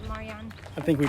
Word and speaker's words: Marjan: That's how our tour guide told Yeah. us to say it, Marjan.